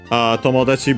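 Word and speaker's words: 友達: Tomodachi, by the way, becomes unaccented, so yeah, actually it doesn't respect the rule of Tachi as a suffix anyway.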